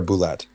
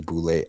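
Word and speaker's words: bulette: And we were cut, as he was coming back, was cut off by is it a boulet or a boulette? I think it's pronounced boulet. Boulet.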